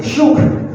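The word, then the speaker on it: жук: Once again, Zhuk.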